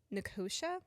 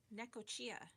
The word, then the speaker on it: Necochea: uh, Necochea. Necochea. Nicosia? Nicosia? Necochea. That's what Google pronunciation said.